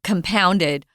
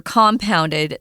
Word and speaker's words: compounded: religious beliefs have come compounded or compounded the challenges for left-handers you can pronounce it either way to compound a problem or compound a problem